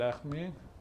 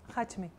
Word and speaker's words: Hachmi: ¿Alguna pregunta más para Najat El Ahmi? ¿Pronuncio bien? Hachmi. Hachmi. Hachmi.